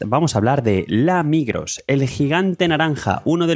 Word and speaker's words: Migros: La Migros o mejor dicho la Migro porque la S no se pronuncia en realidad.